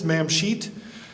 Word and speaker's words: Mamshit: There's a place on the bottom left-hand side called Mamshit. It's not what you think it says and pronounce it. It's Mamshit.